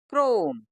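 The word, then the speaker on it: chrome: एम ई प्यारे दोस्तों इसमें एच साइलेंट है और आखिरी का ई भी तो हम इसको क्या खाली हमें इतना ही पढ़ना है सी आर ओ एम तो क्या बन गया क्रोम ऐसे ही नेक्स्ट है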